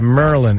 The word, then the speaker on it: Maryland: And I remember the guys say, yeah, Merlin. It's like Merlin the magician. That's how you say it. That's right, Maryland, yeah.